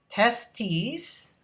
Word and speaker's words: testes: testes produces the sperm and testosterone your information testes okay is the plural of testis and listen to the way i pronounce it testes testis okay and it's also